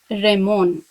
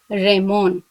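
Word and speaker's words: レモン: Lemon. It's pronounced as Ramon. Ramon.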